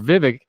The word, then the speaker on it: Vivek: is 50 plus remember Vivek rhymes with fake is in this race